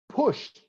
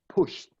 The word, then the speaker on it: pushed: They pushed the shopping cart. I pronounce like they pushed.